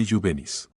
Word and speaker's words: juvenis: La J suena como i. Ejemplo, juvenis se lee y juvenis.